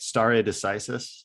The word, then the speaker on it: stare decisis: Stare decisis.